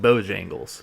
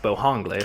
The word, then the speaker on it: Bojangles: I was going to say some people call it Bojangles, but I think it's pronounced Bohangles.